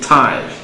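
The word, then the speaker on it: thyme: b is an exception is the only word that has t ish about the only word that has th but remains as so we say time it's something it's what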